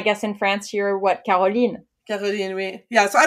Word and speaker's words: Caroline: Yeah, you're Caroline, never Carolyn, right? Well, actually, so it's spelled Caroline, but my entire life, my mother called me Carolyn.